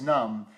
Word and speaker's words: numb: Mick we did a a Facebook live and he says numb the bee is silent just like the secret